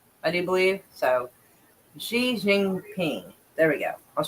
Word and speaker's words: Xi Jinping: meet with Chinese President Xiaing Xia Shing P. Wait, Xi Jinping. That's it. Because I think this is pronounced as a she sound. I do believe. So Xi Jinping.